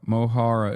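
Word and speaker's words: Mo Chara: Moara. Mohara is how you pronounce it.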